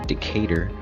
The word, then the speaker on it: Decatur: next day Birmingham to Decatur as its pronounced I wanted to call it a cat or I don't know anybody